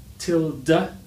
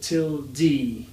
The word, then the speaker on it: tilde: The next one is tilde, tilde, or tilde. Some people say tilde, and other dictionaries will say that you have to say it as tilde, tilde.